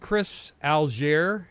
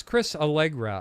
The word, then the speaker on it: Chris Allegra: I've called Chris Algier. It's Chris Allegra. I got, finally, last show. I think I'm saying it right, Chris.